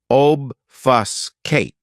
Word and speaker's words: obfuscate: my favorites is obfuscate this verb has three syllables and the stress is on that first syllable obfuscate what it means to